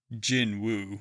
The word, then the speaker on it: Jinwoo: It's not Jin-Woo, it's Jinwoo.